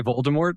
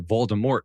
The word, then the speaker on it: Voldemort: you said Voldemort or Voldemort well there's a t there's a t yeah they're just saying but it's French it's means flight from Death is what Vore yeah but